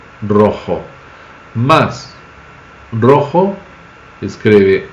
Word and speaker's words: rojo: de ser por exemplo a palavra roxo em português e a palavra Rojo bem diferente né Rojo Rojo mas Rojo escreve R